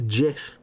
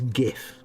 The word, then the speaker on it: GIF: ladies gun who says lay's gun who says jiff ponce's say jif numpty's say jiff it's gif honestly don't care if you invented it you